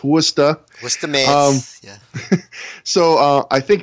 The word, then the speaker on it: Worcester: going to get really mad that you said warchester but it is pronounced worcester oh god i screwed up i knew i